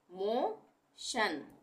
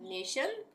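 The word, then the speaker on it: motion: उसको हम शन पढ़ेंगे यानी टी आई ओ एन बन गया शन जैसे यह है एस ई सी सेक उसके बाद शन टी आई य एन शन सेक्शन नेशन मोशन इन इमेशन ठीक है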